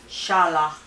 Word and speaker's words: challah: l l a h Shala but it's spelled CH H even though it sounds like an sh so um preparation time is